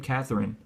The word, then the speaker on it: Catherine: Okay, well, the name Catherine, that's an unvoiced TH, Catherine.